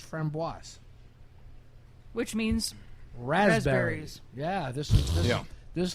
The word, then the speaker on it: framboise: those who speak French, if it has an E after the S, you pronounce the S, so it's framboise.